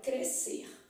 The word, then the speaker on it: crescer: fonemas beleza quer dizer o SC aqui era dígrafo porque ele emitiu um som só crescer só que quando